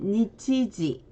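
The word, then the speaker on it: 日時: 자, 일시 그리고 휴일 있는데 일본어로는 일시는 니치지 그리고 휴일은 큐지츠로 읽어줍니다.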